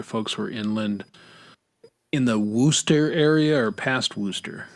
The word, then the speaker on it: Worcester: I know how to say Worcester. You didn't say it right. It's Worcester. Worcester.